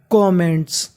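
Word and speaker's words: comment: कमेंट्स का मतलब होता है टिप्पणी। अब देखिए यहाँ पे M 2 बार है लेकिन उच्चारण हमें एक बार करना है।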